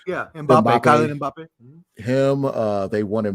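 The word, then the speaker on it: Mbappé: They offered, I think it's Mape. I think I pronounced his name right. Soccer dude. Mbappe, yeah. Mbappe.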